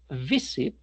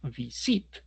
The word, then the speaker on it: visit: A diferencia de decir visit, que es así la pronunciación, y no visit, ¿sí? En cuyo caso, por eso la T no se duplica, porque el acento no va en ese sit, ¿vale?